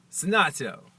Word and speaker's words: Senato: So she schooled me on the ways of speaking Italian, and her name is not pronounced Teresa Senato Edwards, all right? It's pronounced Teresa Senato Edwards. Senato.